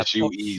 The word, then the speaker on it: Suez: The pronounce price it? of oil should go Suez up. Canal? Yeah, SUEZ.